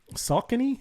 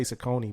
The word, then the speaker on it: Saucony: man i think uh saucony is how you pronounce some people say sakoni but i think salcony did it as well um